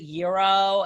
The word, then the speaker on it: gyro: age they're like but how do you say it can you say it for me is it euro and i'm like here we go yes um yeah i get